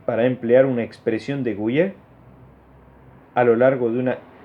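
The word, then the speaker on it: Gouhier: Sí, Gouillet. Lo pronuncié bien.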